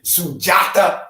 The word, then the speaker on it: Sundiata: uh chief sujata kamara say sujata is how you say it my mama and daddy said sundiata when i was born so that's why you get it like that but enough respect to